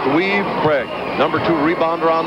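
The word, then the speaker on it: Weuve: W-E-U-V-E, pronounced Weave.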